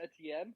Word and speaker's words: Etienne: Is it Tene? Etienne. I think it's Etienne? Etienne? Yeah, I think. Oh. Travis Etienne?